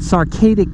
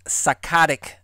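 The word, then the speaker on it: saccadic: don't see us and it's called SAR connect masking my bad it's pronounced psychotic masking and basically what that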